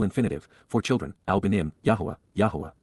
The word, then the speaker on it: Yahweh: for children Alim yah Yahweh the proper pronunciation of the name of eloa God as directed in his Torah teaching regarding his higher existence